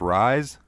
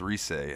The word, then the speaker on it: Rise: name I was like her name is rise that's cool but it's resay and I'm like oh